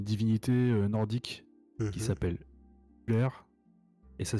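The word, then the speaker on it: Ullr: s'appelle Uller, et ça s'écrit U2LR.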